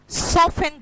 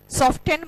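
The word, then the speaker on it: soften: Butter को अगर warm करोगे तो क्या होगा, सॉफ्ट होगा, तो मैंने लिखा सॉफ्टन द बटर। सॉफ्टन मत बोल देना, है ना, टी साइलेंट होता है।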